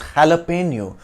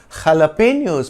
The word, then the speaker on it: jalapeño: n in Spanish and pronounced with an ny sound near with the O